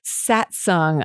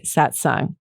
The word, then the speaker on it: Satsang: got a guest today in the house too satsung i'm so excited and yes that's how you pronounce it it's aka satsang stoked okay our shine we're gonna get a